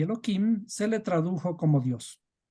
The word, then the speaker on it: Elohim: Este nombre de Dios viene de Elohim, que deberíamos pronunciarle simplemente Elohim para de alguna forma no decir explícitamente el nombre de Dios abiertamente.